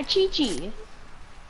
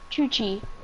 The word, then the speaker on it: Chuchi: Oh, yeah, Chi Chi. No. Wait, said it wrong. Replace the I with a U. Chuche. Chuchi.